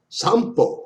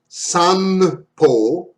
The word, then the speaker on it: 散歩: The N before B, M, and P is pronounced like M in the word sample. Most foreigners don't detect that sound. That's a nuance. So this is not sanpo, it's sampo. Like a M.